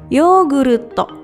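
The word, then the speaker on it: ヨーグルト: Gambar berikutnya adalah gambar segelas yogurt atau dalam bahasa Jepang adalah yoguruto.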